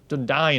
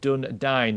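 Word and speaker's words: Dúnedain: So Elagast gets a Dundane Sword. Dundine, actually. I even said this at the beginning of the actual video. It's pronounced Dundine, not Dundane.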